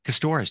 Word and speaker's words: Kostohryz: Celeste Kostohryz joins us on the program.